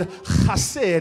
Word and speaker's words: chesed: It is a guttural, which means it has to come from on the inside.